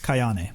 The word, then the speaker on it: Kayane: Kane, how do you say her name? Kayane.